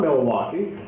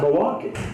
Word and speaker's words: Milwaukee: that because you do it's not milwaukee is it it's milwaukee yeah there you go and